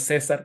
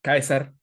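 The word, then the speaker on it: Caesar: igual como la c en latín por ejemplo no es César es kaiser se debe decir Kaiser entonces suena acá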